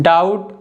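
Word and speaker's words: doubt: Rule number 2 के examples हैं डाउट, date, subtle. तो इन तीनों वर्ड्स में जो बी है या टी के पहले आ रहा है, ठीक है, इसलिए बी साइलेंट है।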